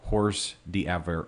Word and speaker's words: hors d'oeuvres: types of hors d'oeuvres hors d'oeuvres is one of those words you look at you know how do you pronounce that hor d'oeuvres yeah horse D ever or is any dish